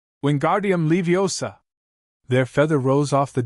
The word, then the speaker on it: Wingardium Leviosa: Wingardium Leviosa, he shouted, waving his arms like a windmill. You're saying it wrong, Harry heard Hermione tell him. It's Wingardium Leviosa, make the gar nice and long.